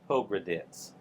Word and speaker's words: Pogradets: It's a tz on the end. Yeah. Padd. Pogradets. Pro. That's it. Pogradets.